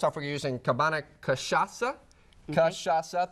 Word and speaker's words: cachaça: Cachaca, 3 syllables. Cachaca.